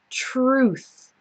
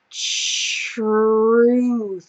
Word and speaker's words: truth: truth okay so it starts with tr Ru and then it ends with the same th sound like in teeth so that's very difficult truth try to take it um piece by piece truth truth okay if you